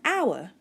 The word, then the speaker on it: hour: umbrella and elephant an hour the last example there an hour the word our doesn't actually start with a valve but it has a vowel sound because we don't pronounce the H an hour we use a in